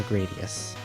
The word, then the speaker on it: Gradius: I don't know if it's like a long A or a short A. Theio former is correct. Gradius.